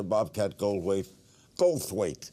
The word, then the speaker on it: Bobcat Goldthwait: My special guest is Bobcat Goldthwait. What can we say about him? Best known for his roles in 80s classics like Police Academy, Hot to Trot, and Scrooged. Actor, comedian, acclaimed director Bobcat Goldthwait.